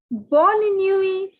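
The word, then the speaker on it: bonne nuit: for good night is bolinui born the t is silent so take a different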